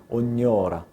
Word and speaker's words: ognora: 그래서 -gn-자가 나면은 이런 소리가 나는거야 그냥 뇨가 아니라 ognora 요새 많이 먹는 뇨키 gnocchi(뇨끼)있잖아 이태리 음식 ch'ognora 잘 발음할 수 있게 해주고 이런 부분이 참 많이